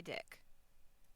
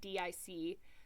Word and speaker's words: DIC: No, I was like, okay, do they go by like DIC? So I even looked up guides. Like I couldn't find a pronunciation guide, obviously, but I found somebody talking about the history of Dick Entertainment, and I looked up a few things, and I was like, no, they go by Dick.